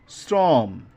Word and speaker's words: শ্রম: খেয়াল করতে হবে যে এখানে শ্রম বানানটা কিন্তু তালবস দিয়ে অর্থাৎ এস এইচ এর মত উচ্চারণ কিন্তু মানে বানান কিন্তু উচ্চারণটা কেমন হচ্ছে এস এর মত হচ্ছে যদি এস এর মত হয় তাহলে তাহলে কি হবে দন্তস্য হবে প্রভাত এভাবে একইভাবে প্রভাত